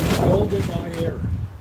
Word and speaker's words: Golda Meir: Golda Meir.